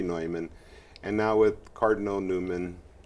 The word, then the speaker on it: Neumann: in writing father well they pronounce the name differently in different places yeah and uh there seems to be some indication that maybe he pronounced it newman when he was here that he anglicized it but it should be neumann and now with cardinal